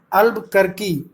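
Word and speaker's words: Albuquerque: Vasco da Gama, एल्मीडा, अल्बुकर्की, none of the above. ये जो आपका दिया है सी जो है अल्बुकर्की दिया है, इसका बोलेंगे अल्बुकर्की, ठीक है, करेक्ट प्रोनाउंसिएशन है इसका।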